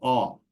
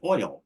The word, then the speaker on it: oil: jet fuel out of they may have as a one syllable word called all I would say something like oil which is a two- syllable word it sounds very different than all um and there just